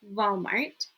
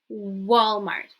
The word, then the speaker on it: Walmart: Okay, not Walmart. Walmart. W. Winter. Now, most of the time, if you pronounce it with a V, I think people